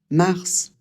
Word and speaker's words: mars: Mars. Celui-là, c'est une exception. Normalement, en français, la dernière consonne d'un mot, c'est très rare qu'on la prononce. Ici le S, il va falloir le prononcer comme un serpent.